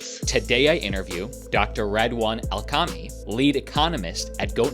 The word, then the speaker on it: Redouane: My background, well, my name is Redouane, as I was explaining to you even before. It's pronounced like red as a color and one as a number. That's the easy one to remember it. Redouane Elkamhi.